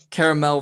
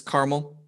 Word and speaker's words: caramel: okay or or uh caramel versus caramel i say both depending on what i'm using that's still the same spelling it's just said said in the way you pronounce it